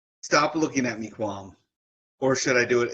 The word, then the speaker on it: QAM: stop looking at me qualm or should I do it in the voice looking at me Quan so um yes stop looking at me qualm uh which is spelled QAM there is no you